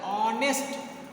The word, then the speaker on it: honest: But here honest, sound of H is not ha, it's honest. Honest. So sound of honest, sound of H is like a vowel.